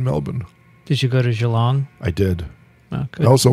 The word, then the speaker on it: Geelong: correct melbourne melbourne and i'm going to gee long oh you're going to have great time because i pronounced it and there was a australian scientist at the hamilton she said it's actually geelong you're going to see